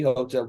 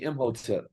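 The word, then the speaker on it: Imhotep: that's a hotel brother don't call me Hotel call me imhotel right that's a builder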